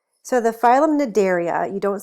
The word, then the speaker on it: Cnidaria: on to the phylum Cnidaria so the phylum Cnidaria you don't say the C to C is silent is named for its